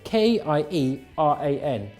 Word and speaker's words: Ciaran: it should be spelt kie ra n cuz that's how it's pronounced if your name is spelled Ciaran it should be pronounced Kieran my name isn't spell